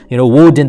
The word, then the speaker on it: Woden: because the term Wednesday comes from the Greek god Odin. Woden, they pronounced him, and so they honored him by saying Wednesday.